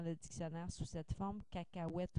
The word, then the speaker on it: cacahuète: dictionnaire sous cette forme cacahuète aussi que l'on prononce toujours avec O U donc la graphie étrangère